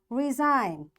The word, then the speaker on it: resign: g is silent and we'll say it design foring sign align resign assign rain clone campaign campaign okay now my dear students you see in all words we are not pronouncing this G and why we are